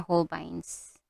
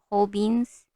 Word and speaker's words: Holbein: But for this one, I'm gonna be using white, Holbein white, Holbein or Holbeins. So if you're confused why I'm keep on saying Holbeins, that is how we pronounce it here in Japan.